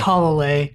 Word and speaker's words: Talalay: Well, I finally found out how to pronounce Rachel's last name. Okay. It's Talalay.